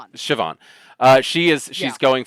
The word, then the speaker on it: Siobhan: her name I I think it's pronounced Safon. I'm really really bad with with it's Siobhan. Siobhan.